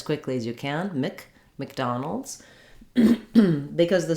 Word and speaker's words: McDonald's: a in it um the mc we pronounce that more like mick so um i almost